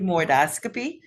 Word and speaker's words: sigmoidoscopy: do you say that sigmo oscopy that's Sig sigmoidoscopy that's every five years and then the virtual